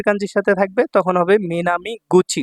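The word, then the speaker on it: 南口: সাথে থাকবে তখন হবে মিনামি গুচি গুচি উচ্চারণ হবে হ্যাঁ গুচি কুচি মিনামি গুছি অর্থাৎ দক্ষিণ দরজা বা দক্ষিণ দিকের গেট।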